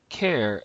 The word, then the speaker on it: char: this Char as in charcoal care as in character and this one is very popular because the primitive data type is character and so if you just took off the first four letters and pronounce them it would sound something like care and then the third way to say CH h a r is car as in a vehicle that you drive all three of these